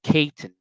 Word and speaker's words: Cayton: 1978, the Caton family, it is spelled Cayton. I saw a couple of articles that call them the Clayton family, but most articles I found call them the Caton family, Cayton. So that is what I'm going to call